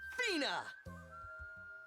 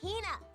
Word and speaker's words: Hina: And this young lady is my traveling companion, the esteemed archaeologist, Fina. You keep saying it wrong. It's Hina.